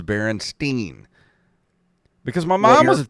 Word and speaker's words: Berenstain: Is it Berenstain or Berenstein? And I remember her saying it was Berenstein.